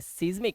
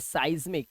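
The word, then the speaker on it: seismic: सबसे पहले आई वाले देखो, ये देखो इसे पढ़ते हैं, इसे क्या पढ़ते हैं सीज्मिक, नहीं इसे पढ़ते हैं साइज्मिक, क्या पढ़ते हैं साइज्मिक।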